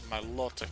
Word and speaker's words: Milotic: Could be based on Aquatic, on Exotic. So that's Milotic. The O has the stress.